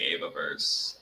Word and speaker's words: Evaverse: it whatever they see fit so i say eva verse um but you can say ebook so i